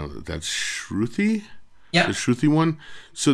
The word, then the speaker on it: Shruthi: I have to get the pronunciation of it. That's Shruthi?